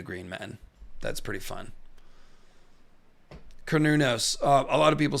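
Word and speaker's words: Cernunnos: So I now force myself to say Cornunos to be accurate. Like a kernel of corn.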